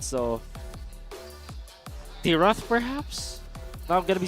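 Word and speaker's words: Dyrroth: So Tiroth perhaps? Now I'm gonna be surprised if that is how do you pronounce that actually? Dyroth? I say Dyroth.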